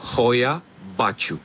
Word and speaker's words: Hoia Baciu: Une forêt qui a pour nom Hoia Baciu. Voilà pour la prononciation officielle.